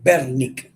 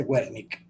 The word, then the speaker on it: Wernicke: creo que era holandés, entonces se dice Wernicke, no se dice Wernicke, pero no importa, eso no tiene ninguna importancia. ¿Ok? Nosotros tendemos a museolizar todo lo que suena con W, a ponerlo, a pronunciarlo en inglés. Pero no, en alemán y en holandés, la W suena V, como la V nuestra.